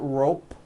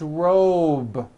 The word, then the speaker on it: robe: Same thing with robe. Also has a voiced B ending. It's not rope with an unvoiced P. It's robe.